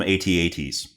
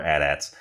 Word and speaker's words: AT-AT: the adats or the I've always called them at-ats I've always been one of those people that calls them at-ats over adats but either pronunciation is accepted by the majority of Star Wars people from what I understand so uh anyway so